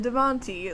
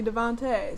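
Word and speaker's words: Devonté: and then realized that an E with that kind of accent means you pronounce it a not E and I said Devon T like a idiot even though it's clearly Devante so I apologized for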